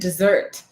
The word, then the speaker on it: dessert: Henry is commenting back on what we were talking about pronunciation, is the difference of pronouncing desert and dessert, right? That's right. The stress is different.